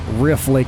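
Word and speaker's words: Riffe Lake: And let's see, this lake up here, which is called I think it's Riff Lake is how you say it, but it's spelled R I FFE, that's also a hydroelectric reservoir with a dam on the other end of it.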